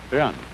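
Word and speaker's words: 仁: e in it's pronounced done sort of like rolling an R or rather saying R but not rolling it and this word is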